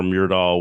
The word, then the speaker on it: Myrdal: Clearly, Gunnar Myrdal was, am I pronouncing that correctly?